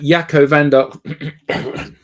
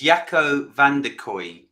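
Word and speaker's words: Jacco van der Kooij: there okay so um does anyone want to have a go at pronouncing his name uh Jaco vandok yeah I I it's yako Van Der koi so on LinkedIn you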